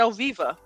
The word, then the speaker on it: Oviva: I don't know how long it's been open, but yeah, it's at Oviva, Oviva. Oviva. No, I've never heard. Say that again. Spell it again.